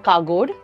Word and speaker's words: Kagodu: one the it's written and the way it's pronounced so it's Dr kagod so kagod is a village close to sagur